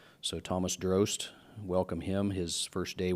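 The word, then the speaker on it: Drozt: His name is Thomas Drost. His last name is spelled D-R-O-Z-T, but it would be like you're pronouncing roast, but it starts with a D. So Thomas Drost, welcome him.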